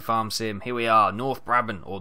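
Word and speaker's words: Noord-Brabant: welcome back to Farm Sim here we are North Bron or norbon as i' been told it is pronounced we're back in our beautiful sunny skies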